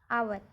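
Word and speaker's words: hour: पर भी हमारा है एच ओ यू आर आवर तो यहां पर भी एच साइलेंट लेटर ओ से मतलब है तो हम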